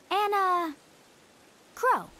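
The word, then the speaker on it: Enna Kros: just answer my question you can call me anna crow and a crow will work that's not how i would have pronounced that so i'm glad they said it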